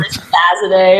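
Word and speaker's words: Rezazadeh: Rezzazade. Imagine that was my name. Rezzazade? Yeah, Rezzazade. Is that how you pronounce it? Yep. Rezzazade.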